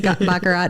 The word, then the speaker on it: Baccarat: Baccarat?